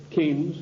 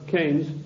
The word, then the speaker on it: Keynes: they sent John Maynard Keynes or Keynes he said Keynes was a better word because it arrived with it rhymes with brains and this is a